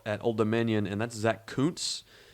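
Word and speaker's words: Kuntz: watching him develop at Old Dominion and that's Zach Koontz it's not the way you think it it's pronounced it's it's Koontz 5.9 grade he is another Behemoth man six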